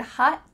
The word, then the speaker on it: hot: What happened to that final letter? Well, we have a theme here. It's gone. Your tongue is at the top of your mouth. You're going to say hot. But instead of letting the air through, your tongue just sticks there.